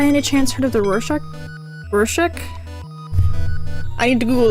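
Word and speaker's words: Rorschach: Have you by any chance heard of the Rorchack? Rorchack? I need to Google the pronunciation on that. Hold on. Rashack.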